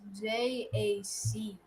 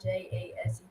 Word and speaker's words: Jace: It's Jace, not Jase. A lot of people either get it confused with Jason or Jase, but the C is silent. Yeah, so it's Jace.